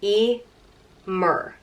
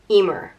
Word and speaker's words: Emer: it means swift on it's pronounced e mur Emer and I've spoken a